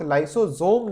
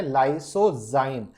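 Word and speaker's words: lysozyme: Ritika Rajput, लाइसोजोम नहीं है, क्या है, लाइसोजाइम। There is a difference between लाइसोजोम एंड लाइसोजाइम। ZYME, जो दिवांग यादव ने स्पेलिंग लिखी है वो सही है।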